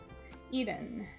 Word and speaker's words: Eden: Yes, Eden is the right way of saying my name, I think.